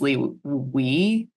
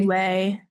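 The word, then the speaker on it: Liwei: I think it's Lee Wei. I was saying I was saying Leeway.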